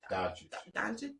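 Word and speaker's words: Dončić: How you pronounce Luka's last name? Doncic.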